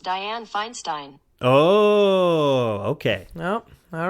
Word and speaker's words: Dianne Feinstein: Google how do you pronounce Dianne Feinstein that's pronounced Dianne Feinstein okay wait what if I do this it's like you just said it how do you pronounce Dianne Feinstein that's pronounced Dianne Feinstein oh okay nope all right that does sound